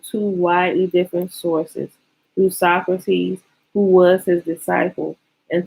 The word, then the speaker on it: Socrates: Socrates.